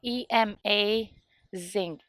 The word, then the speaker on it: Emazing: podcast it's called the so it's spelled e-m-a zing Emazing so like Ema amazing tennis podcast um and